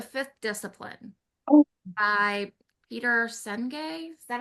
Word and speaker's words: Senge: by Peter Senge.